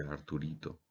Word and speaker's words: Arturito: en el interior de Arturito. ¿Sí? Se pronuncia como si fuera Arturo, Arturo pequeño, Arturito, pero es R2D2, R2D2, ¿sí?